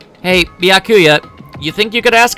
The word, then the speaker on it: Byakuya: you're all so annoying back blackula it's byakuya byakuya byakuya byaku Baka Baka Baka